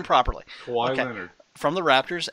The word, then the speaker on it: Kawhi: Kawhi okay.